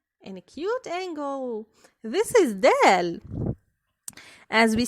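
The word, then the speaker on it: دال: This is dal.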